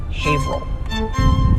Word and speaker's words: Haverhill: bit deceiving it's not haverhill or haverhill no haverhill he'll never get this next one and finally